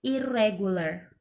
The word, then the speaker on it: irregular: It not irregular, but the correct is irregular.